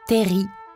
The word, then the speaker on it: terril: gauche les de teril attention on ne prononce pas le l on dit Terry ces TER donc sont